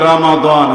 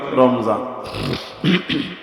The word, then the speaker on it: রমাদান: শাহর রমাদানল্লাজিলাফিল কোরন কোন মাস জোরে বলেন আরবিতে রমাদান হাদিসে রমাদান আমরা একটু সহজে উচ্চারণ করি রমজান আবারো বলছি রমজান মাসের